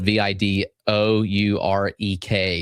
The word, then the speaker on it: Vidourek: That's spelled V I D O U R E K.